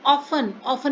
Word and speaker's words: often: I often में देखो T silent है.